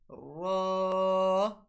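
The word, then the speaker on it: ر: Next one is ra. Ra. So the method of pronouncing ra is when the edge of our tongue, including the tip, touch the gums of lateral and central incisor.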